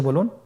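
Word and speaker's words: ب: বা হরফে টান হবে। এক আলিফ টান। আপনারা আমার সাথে বলুন বা আবার বলুন বা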